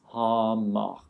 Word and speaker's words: Hamar: If you want to practice it, don't say it like the French Paris, like many times. Just say it once. Hamar.